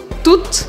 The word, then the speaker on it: toutes: Ou seja, a pronúncia é exatamente idêntica tout. Tut.